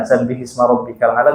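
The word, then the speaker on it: سَبِّحِ اسْمَ رَبِّكَ الْأَعْلَى: Sabbih isma. Nah, maka sukun yang pertama di huruf H diberikan harokat kasroh. Sabbihisma rabbikal a'la.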